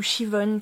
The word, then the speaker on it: Siobhan: princesse d'un des clans, Siobhan ou Shivon, ça dépend comment on le prononce, du coup qui va pactiser avec le roi du camp ennemi.